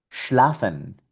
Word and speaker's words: schlafen: Schlafen, schlafen, que es el verbo dormir.